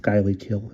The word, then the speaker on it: Schuylkill: Actually, that might be pronounced Skylykill. If somebody lives there, let me know.